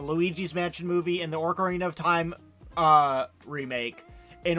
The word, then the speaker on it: Ocarina: fake like the Luigi's Mansion movie and the Ocarina of Time uh remake in order to Yeah. find the mole. Yes. Orc Aarena of Time. Yes, the Orcs. What is it? Ocarina.